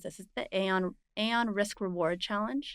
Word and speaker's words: Aon: Okay, so you won the how do you pronounce this? Is it the Aon Risk Reward Challenge? Aon Risk and Reward, yes.